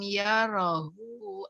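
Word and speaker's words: يَرَهُ: Wah, hu-nya panjangin lagi. Hu ahad ya. Yarahu ahad. Ayah sabu alam yarahu ahad. Hu-nya panjangin. Sama kayak tadi, Akhina Rehan dibaca pendek. Kalau di slide itu memang nggak ada tanda panjangnya, tapi kalau di Al-Quran ada.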